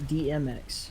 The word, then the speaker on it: Demex: I think Demex is pronounced DMX, like the rapper.